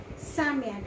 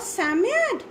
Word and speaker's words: Psammead: Okay, and definitely it was none other than Psammead.